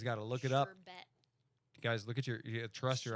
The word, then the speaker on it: SHRBT: Sherbet. SHRBT because I had to spell it like all the DJs spell their names. Well, there's no actual R at the end. Sherbert.